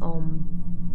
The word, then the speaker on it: Om: And now taking a nice, long, slow, deep breath in for Om, and making sure to allow equal space for the O and the Om, the two syllables in Om.